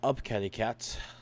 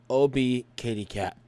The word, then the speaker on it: Obkatiekat: Today, we have Up Kitty Cat. Sorry. OB Kitty Cat. There we go. I said it right.